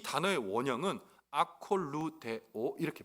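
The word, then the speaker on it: ἀκολουθέω: 그런데 이 단어의 원형은 아콜루데오 이렇게 발음해요.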